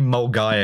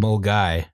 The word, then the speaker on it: Milngavie: Justin, say Mulguy again. Mulguy.